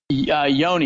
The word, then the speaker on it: Yonee: I did pronounce that right didn't I it's Yoni or is it yonni Yoni you did and I'm surprised as most people have been pronouncing it right lately okay cool I just